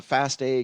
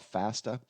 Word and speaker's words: FASTA: The Fasta comes from, some people call it Fasta. I've heard it pronounced both ways.